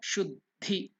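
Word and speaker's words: शुद्धि: So you are stressing, you see that stress is there, Yuktakshar. So you have to stress it. The earlier word should be stressed. Shuddhi. That is the way it is pronounced.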